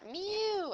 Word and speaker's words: mu: is called Sigma so this is mu that's how you actually say it like a cat mu and this is Sigma